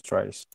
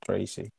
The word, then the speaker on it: Dreyse: Okay, so it's Dreyse, not Tracy.